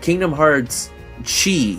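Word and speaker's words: Kingdom Hearts χ: ] am I saying Kingdom Hearts Chi as I'm going to call it had like in in Brackets it had Chi telling you that's how you're supposed to pronounce it or like it in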